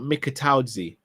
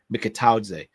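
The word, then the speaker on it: Mikautadze: Again, what about Mikataudze? For anyone who watched the show earlier, you know I know how to pronounce his name now, from Lyon. Mikataudze.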